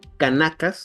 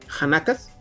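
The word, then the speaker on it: khanaqas: Ahí establecieron 6 escuelas distintas conocidas como Kanakas o no sé, Yanakas, ¿será? Es que es K-H-A-N-A-Q-A. Han. Pronúncialo como Han. Hanakas.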